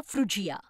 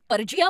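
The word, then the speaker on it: Phrygia: कदाचित मला म्हणायचं होतं नाही रेफ्रिजरेटरचा विचार करा फ्रुजिया कारण मी त्याला कदाचित पर्जिया म्हटलं असतं आणि बघा परमेश्वर माझा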